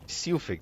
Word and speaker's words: Silfig: Silfig, that's how you pronounce it.